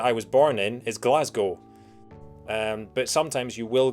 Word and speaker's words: Glasgow: scotland and they said glasgow rhymes with snow not cow and that was it